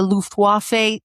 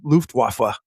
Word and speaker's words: Luftwaffe: The Luftwaffe thinks that darkness is their advantage. I don't think you said that word right. I did. I was throwing you up a softball. Oh, thank you. Luftwaffe. Luftwaffe.